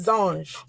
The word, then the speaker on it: Zange: Y'all say it like you're French. Pretend like you're French. It's Zange.